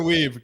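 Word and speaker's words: Wiebe: Gunnar, is that Gunnar Weave. Gunnar Weave, yeah. Weave, Gunnar Weave. Spell it.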